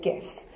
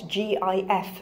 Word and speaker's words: GIF: Now, before we go any further, you may have heard this pronounced GIF. That is in fact the way the creator of that format prefers it to be pronounced. I do not prefer this because graphics begins with a hard G, and if it's going to be an acronym, then I feel like it should be said GIF.